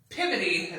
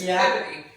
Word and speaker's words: Peabody: Well, WE WENT TO SALEM AND RIGHTBODY JUST THE OTHER SIDE of Salem is pivoty is how they say it in Massachusetts. Pivity.